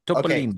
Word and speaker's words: Topolino: Topolino.